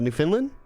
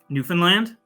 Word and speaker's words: Newfoundland: oh what is it i i always mispronounce a new finland newfoundland yeah newfoundland yeah he's a smile